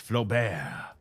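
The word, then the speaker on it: Flaubert: uh it was unbearable his uh surname would be pronounced Flo bear it's even worse what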